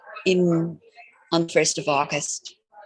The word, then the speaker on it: Lughnasadh: And Lunyash, also an interesting spelling, Lughnasadh. Lunyash on the 1st of August.